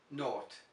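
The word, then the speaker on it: nought: of saying it and it's one of those terrible English words to pronounce not now you can remember these from the past tense of lots of irregular verbs catch caught by bought bring brought now you don't need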